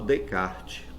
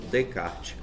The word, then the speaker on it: Descartes: no que eu falo eu falo descarte eu não Estou pronunciando nem o é nem o s escreve-se Descartes vai se ler Descartes no Brasil porque em